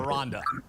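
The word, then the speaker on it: Aranda: How do you pronounce his name? Ronda. Ronda. Jonathan Aronda.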